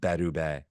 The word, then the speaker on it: Berube: we're both on the same page here saying bruy is not going to excit us and actually little tidbit here so my mother-in-law's from Montreal and she said it's pronounced bedu like okay okay sure sounds cooler anyways so